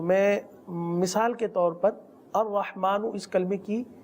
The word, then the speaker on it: الرحمن: را حا زبر رح، الرح، الرح، میم کھڑا زبر ما، میم کھڑا زبر ما، الرحمن، الرحمن، نون پیش نو، نون پیش نو، الرحمن.